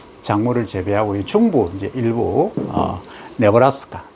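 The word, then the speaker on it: Nebraska: 그래 주로 이제 서부 쪽, 동부 쪽, 남쪽 이런 쪽에서 작물을 재배하고, 중부 이제 일부 네브라스카, 영어는 니브라스카 이렇게 발음하는데, 거기 사우스 다코타, 노스 다코타 이런 쪽에 해서 미조리, 오하이오 이런 쪽에서 주로 작물을 재배하고 있다 이거죠.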